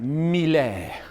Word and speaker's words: Mille: This is you got to say it like that, Mille, okay?